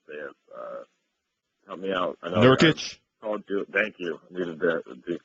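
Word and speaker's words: Nurkić: Nurkic. Thank you. I needed the pronunciation there.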